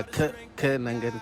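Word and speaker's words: Kenangan: Alright guys, a very quick review for the Ke Nangan coffee. I think I'm pronouncing it right. Yeah, it's like Ke Nangan coffee. They put pressure on K.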